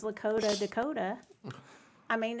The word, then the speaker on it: Dakota: Yeah, it's a beautiful story, especially the sheets, but it does rhyme with Lakota. So I'm going to be thinking Dakota means Lakota. By the way, Well, my, and so does pagoda.